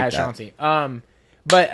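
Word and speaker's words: Shauncey: Sean C. is spelled like that: S H A U N C E Y. But it's like at Sean C.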